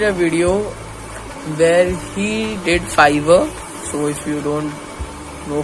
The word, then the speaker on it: Fiverr: I am pronouncing it like fiber, but it is Fiverr.